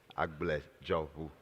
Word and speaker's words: Agblegero: It's 3 syllables, Agblegero.